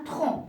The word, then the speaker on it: tronc: se prononce et parfois parfois on a la lettre C à la fin d'un mot mais qui ne se prononce pas on la prononce pas exemple un bon alors regardez il y a c'est à la fin mais qui n'est pas prononcé ou bien un tronc le tronc d'arbre alors